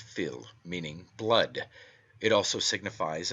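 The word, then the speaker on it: fuil: is taken from the irish word phil f-u-i-l pronounced phil meaning blood it also signifies a family or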